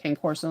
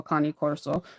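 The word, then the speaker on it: Cane Corso: corso or Kan Coro actually I've been saying it wrong this whole time but I'm going to continue to call it K Corso instead of a con Corso um I found out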